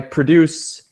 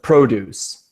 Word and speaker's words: produce: we have lots of produce or are actually fruits and vegetables so yeah when it's a verb we make syllable two stronger and when it's a noun at syllable one and I thought it